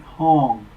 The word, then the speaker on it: Hong: the breath comes in mentally chant home parentheses rhymes with song parentheses at the same